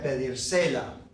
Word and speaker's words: pedírsela: If we start adding things to the end of it, the pronunciation of this whole word, where we put the accent, the stress on this word is going to change.